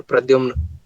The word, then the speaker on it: Pradhyumna: How do you pronounce it? I said, sir, Pradyumna. And he was a Sikh. So he said, ki Pradyumna.